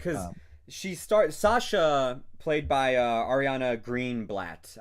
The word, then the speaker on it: Greenblatt: Yeah, like because Sasha, played by Ariana Greenblatt, I believe is how you pronounce her last name.